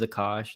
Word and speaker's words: Akash: in some stupid way my name's akash and so it's got like like cash and it's not pronounced that way but it's kind of